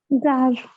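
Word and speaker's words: Czar: Zar. ये king थे एक बहुत फेमस किंग, मगर कजार नहीं पढ़ा जाता, इनको क्या पढ़ते हैं हम लोग, Zar.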